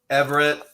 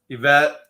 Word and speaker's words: Yvette: Hey, Everett. Yvette. There's no R in there.